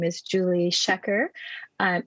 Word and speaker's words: Schaecher: So my name is Julie Shecker, and it's an interesting last name, Shecker.